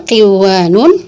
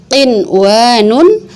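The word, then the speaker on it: قِنْوَانٌ: Enggak kita baca duya, enggak kita baca siwanun, enggak kita baca qiwanun, enggak kita baca buyanun, tapi tetap dibacanya dun ya, terus shin wa nun, qin wa nun, bun ya nun.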